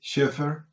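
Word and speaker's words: Chafer: por ejemplo, eh Sheffer, Leis Sheffer, que se escribe Chaffer, no sé si ustedes por ahí lo han visto.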